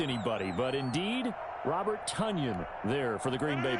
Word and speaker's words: Tonyan: so that catch by robert tunyan as in rhymes with onion the packers pr department